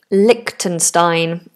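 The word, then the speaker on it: Liechtenstein: There isn't a ch in the middle as in a ch sound. Likenstein is how we're pronouncing it.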